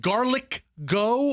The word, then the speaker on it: Garlic Go: Just as in go. Garlic as in G A R L I C and then go. G go G go G O garlic go.